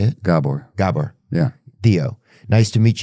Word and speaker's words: Gabor: Gabor.